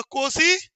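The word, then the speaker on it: Nkosi: बोलो कोसी, N silent है, सिकेलेल Africa.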